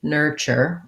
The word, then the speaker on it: nurture: er same thing er this t says the ch sound it has first syllable stress so building it from